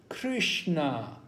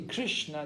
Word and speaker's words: Krishna: For example, in Russia, Russian people will say Hare Krishna, right? They don't say Krishna, they say Krishna, Krishna.